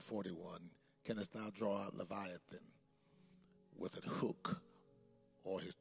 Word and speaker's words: Leviathan: use us listen and be blessed the scripture lethan did I say it right I messed it up again oh my God levithan then verse one of job 41 canest thou draw out Leviathan with a hook or his tongue with a